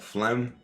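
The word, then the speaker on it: phlegm: Like P and the H is silent somehow or another and you get a F.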